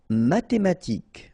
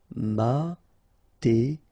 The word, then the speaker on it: mathématique: Mathématique. Remember, H doesn't exist, so mathématique. Remember, Q-U-E at the end, K.